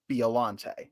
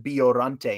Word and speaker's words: Biollante: So if you're a Japanese purist, it is Biollante because it is pronounced Biorante in Japanese.